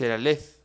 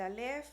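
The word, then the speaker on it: Aleph: que uno de sus cuentos más famosos es elale así se pronuncia parece vamos a decir que s la verdad dice alef Entonces qué es el alef qué nos viene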